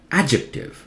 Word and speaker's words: adjective: try now listen carefully D is silent adjectives are louder because in red is accented syllable stressed syllable skip the D ejected adjective adjective okay not a bijective this one try and